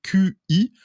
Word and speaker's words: Qi: Alors tout le monde finalement a enfin réussi à se mettre d'accord sur une norme qui est la fameuse norme Qi. Alors ça s'écrit QI, mais ça Ouais, se prononce Qi, c'est ça?